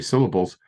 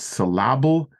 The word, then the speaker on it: syllable: put the emphasis now in English most of the emphasis tends to be on the earlier part of the word and I still remember the teach is drilling into our head it's not salable it's syllable that was like the the the the so you it's usually on the first syllable guess whates it's it